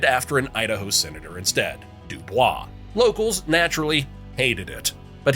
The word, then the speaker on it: Dubois: They flat out refused the French Dubois pronunciation and went with Dubo because of course it rhymes with cowboys.